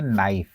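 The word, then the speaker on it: knife: अंग्रेजी में देखिए के एन आई एफ ई उसे हम उच्चारित करते हैं नाइफ।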